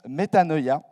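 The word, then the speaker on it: μετάνοια: Et je vous donne aussi le mot en grec qui se prononce métanoïa.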